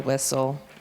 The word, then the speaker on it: whistle: And then we go into STLE, thistle, castle, whistle. We know that it says soul, and then that T is silent.